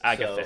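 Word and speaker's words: Agathys: Agathis, is that how you say it? Agathis. Agathis? Agathis. Okie doke. Uh, Boop. That's what the blue circle Or is. on you. Agathis? Lovely. It's Agathis.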